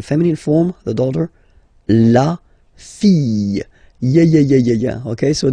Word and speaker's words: fille: And then the feminine form, the daughter, la fille. Yeah. Okay, so this L here and E will give you the sound Y.